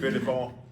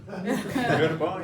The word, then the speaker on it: Göteborg: Did I pronounce it? Göteborg. No. Göteborg, yeah. Gothenburg, Sweden. No. Göteborg.